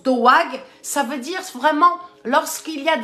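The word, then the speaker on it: דאג: Ça s'écrit D-A avec une petite apostrophe, une petite virgule A-G. Et ça se prononce doag.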